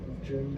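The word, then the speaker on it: 古筝: Yeah, guzheng.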